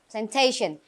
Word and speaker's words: plantation: Plantation yeah Plantation good Plantation remember the stret is on the second syllable Plantation and the last one